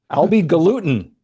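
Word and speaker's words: Albhy Galuten: Uh produced by Albi I can't even Albi Galutin.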